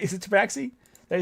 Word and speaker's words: Tabaxi: You can't pronounce tabax. Fucking tabax. Look at me now. Now I'm fucking it up. Tabaxi, right? Is it tabaxi?